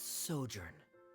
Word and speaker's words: sojourn: clear yeah uh director zosimos how do you pronounce this word oh c let me see Ah that's sojourn it means to stay for a while this